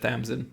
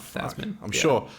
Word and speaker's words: Thasmin: You said Thamsin, not Thasmin.